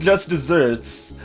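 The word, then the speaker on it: just deserts: so um it's interesting it's pronounced Just Desserts but uh that phrase has nothing to do with dessert food it uh is based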